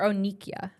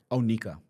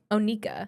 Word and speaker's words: Onika: Or Onikia? Onika. Onika.